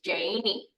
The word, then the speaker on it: Janey: We're going to use the Mvskoke pronunciation of Jane, which is Janey.